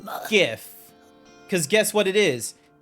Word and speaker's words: GIF: A very hard G. Whoever says it's meant to be GIF is the same people